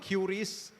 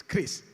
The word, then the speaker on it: QRIS: I still remember watching in the TV Pak Perry explaining it is not QRIS, it is not QRIS, it's KRIS.